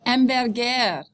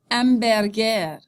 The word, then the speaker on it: hamburger: un steak frites, un hamburger, un hamburger, un hot dog, un hot dog. Notice that hamburger and hot dog, you don't pronounce the H, right? Because it's silent.